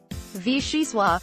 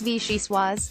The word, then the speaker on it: vichyssoise: this summertime soup and you don't even say it the fanciest way vishi suave the pronunciation that's most divorced from actual letters usually the way to go when it comes to French is in this case incorrect it's vichyssoise and even more hilarious